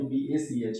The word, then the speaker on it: Bach: Actually में इनका जो प्रोनाउंसिएशन जनरली थॉमस बक बोलते हैं सब, पर BUCH ना होकर BACH है।